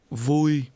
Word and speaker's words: Vui: Vui. Vui. Vui. Vui. Vui. Vui. This is pronounced with a mid-level tone.